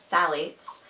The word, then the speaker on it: phthalates: second bullet point the pH where it is pronounced phthalates you might hear that one a lot in